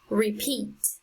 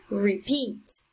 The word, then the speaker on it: repeat: we have the word repeat repeat so the strongest sound is on the second syllable next example is talkative